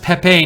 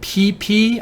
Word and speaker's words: Pepe: SH7401 says it's pronounced Pepe, not PP.